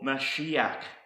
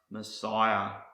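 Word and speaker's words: משיח: is the root for mashiach which in the English is pronounced Messiah so what's a meshiach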